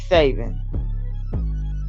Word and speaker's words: Saban: It'll overshadow Nick Saban.